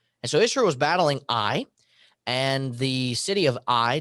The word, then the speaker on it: Ai: this, and history says, is to pronounce a silent A. So it would be I. And so Israel was battling Ai, and the city of Ai defeated them.